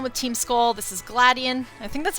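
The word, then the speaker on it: Gladion: Team skull this is gladian I think that's how you say his name Sounds Like Gladiator but he's like this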